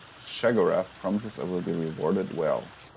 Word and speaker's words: Sheogorath: operation to me and shagarath will reward you well yes this is how you get the quest interesting that's how you pronounce that name I always thought it was shiodora shagora interesting I've been to the